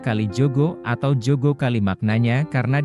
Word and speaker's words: Kalijaga: Assalamualaikum warahmatullahi wabarakatuh sebenarnya dalam bahasa Jawa pengucapan Kalijaga adalah Kalijogo atau Jogo kali maknanya